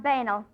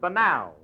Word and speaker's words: banal: you out on that you've been pronouncing them words all wrong what do you mean well I found out in night school that the correct pronunciation is purel and banal oh it is that's